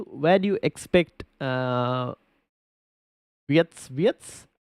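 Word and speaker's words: Wirtz: Where do you expect uh Vietz? His name is Vietz. No, not WS. I think they definitely pronounce it as wits.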